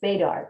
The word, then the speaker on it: Badar: And Badar, although he is not, excuse me, it's Badar, correct? Right.